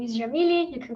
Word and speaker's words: Jamile: glad to be here so my name is yamily you can call me because it's much easier to to pronounce uh as you said i am brazilian